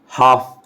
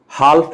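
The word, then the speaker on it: half: Thief, life, life, हाफ, हाल्फ नहीं, scarf. ये सब जो प्रोनाउंसिएशन जो मैं बता रहा हूँ साथ में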